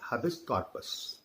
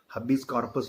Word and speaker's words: habeas corpus: पहला है हबिस कॉर्पस. इसको हबिस कॉर्पस बोलते हैं, इसको हेबस कॉर्पस भी कुछ लोग बोलते हैं. ठीक है, अपने अपने हिसाब से, अपने अपने फोनेटिक के हिसाब से प्रोनाउंसिएशन कर सकते हैं.